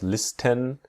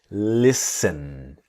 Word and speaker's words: listen: Now here in the word listen, the t is silent. So we don't we do not pronounce listen, but listen.